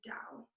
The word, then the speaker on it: Tao: but in the ancient chinese text it is dao and yes it is spelled t-a-o pronounced so it's be like um